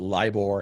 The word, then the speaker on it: LIBOR: defer to talk about what is LIBOR and that's how you say it LIBOR and then what is